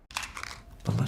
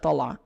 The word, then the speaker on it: طلع: طلع is used very subtly, and in Palestinian Arabic, it's often, the ayn is often very subtle. It'll be pronounced like طلع. طلع. It is very, very subtle.